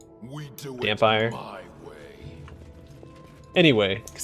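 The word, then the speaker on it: dhampir: Actually, is it pronounced Dompire? Like vampire, but with a D? We do Dampire.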